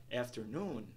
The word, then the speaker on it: afternoon: sí Estressada por exemplo a pal afternoon onde a primeira e a última sílaba S estas afternoon afternoon afternoon enger primeira e a